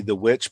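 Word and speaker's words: The VVitch: called the witch and it's spelled with two v's so it's it's like spelled vv icch but really it's supposed to be the witch but i think it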